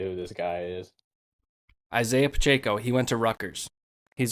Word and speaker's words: Pacheco: back for the chiefs isaiah pacheco that's how you say his name yeah i have no idea who this guy is isaiah pacheco he went to rutgers